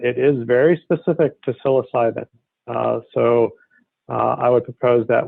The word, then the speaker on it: psilocybin: Some people do say psilocybin, but it seems like most of us are saying psilocybin.